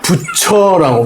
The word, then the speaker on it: 붙여: 그래서 우리가 발음할 때는 어떻게 발음해요? 붙여라고 발음하죠. 티하고 이가 만나서 붙여라고 발음하잖아요. 근데 우리는 처를 붙여 이렇게 발음한다라고 우리가 규정에 나와 있잖아요. 그죠? 처를 여를 어로 발음한다라고 규정이 나와 있으니까 우리는 그 붙여라고 발음할 뿐이죠.